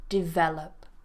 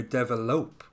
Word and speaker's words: develop: again develop develop yeah that's um I often hear it with the stress on the last syllable um I often hear develope develope ah interesting yeah develop I tend to hear it on the first one so I think it